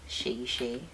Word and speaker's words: Seyi Shay: My IG is I am Seyi Shay. For those of you that are not Nigerian, Shay is spelled S-E-Y-I, and Shay is S-H-A-Y for the Westerners out there.